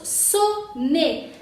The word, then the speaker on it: sonner: Después aquí tenemos sonner. Aquí tenemos ON, pero no es nasal porque sigue doble N. Entonces sería sonner, ¿ok? Sin sonido nasal, porque aquí tenemos doble N, no te equivoques aquí. Sonner.